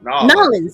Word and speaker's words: New Orleans: in Victorian era, New Orleans or New Or New Orleans. I don't know how they say it down in New Orleans. I say it this New Orleans Norland.